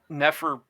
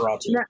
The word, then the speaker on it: Nosferatu: You just have to have the right, You could make because what is it, Neferfatu or whatever, I can't really pronounce that, but the vampire movie that just Nosferatu. thank you Nosferatu.